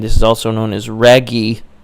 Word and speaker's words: Raguy: is also known as Raguy. I think it's how it's pronounced, R-A-G-U-Y, and this was created by Alpha Denshi in 1990 for the NEO GEO cabinet.